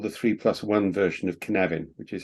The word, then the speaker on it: Cynefin: That's called the 3+1 version of Cynefin, which is how it's pronounced.